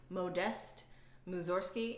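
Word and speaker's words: Modest Mussorgsky: the next composer is Moe dest moose or ski it looks like modest but it's pronounced memo nest moves or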